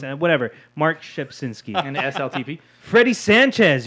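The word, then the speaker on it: Rzepczynski: You were talking about Mark Shepsinski. That's how you pronounce his name. Mark Who? Shepsinski.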